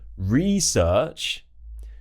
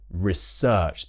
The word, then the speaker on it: research: So when it becomes a verb, it changes from the noun version, research, to the verb version, research. The stress shifts to the second syllable.